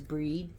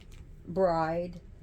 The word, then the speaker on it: Brigid: just a title so her pronunciation of pre Christian is bre as well as breed so you stop we have Bridgette Bridget Bridgette with a d at the end there's also a pronunciation with a t bride and as the three